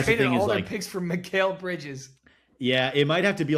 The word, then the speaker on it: Mikal: with the Knicks and they kept one of McCall or Mikal, what is it, McCall? You always correct me on my pronunciation. Mikal.